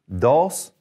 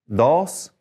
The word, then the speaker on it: dos: is uno uno two push your tongue four a little bit with the d dos dos three is tres tres